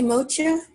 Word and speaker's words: moksha: And then the how do you say moksha?